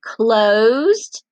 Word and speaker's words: closed: Did you say closed? Very good. And does closed make the t sound or the d sound at the end?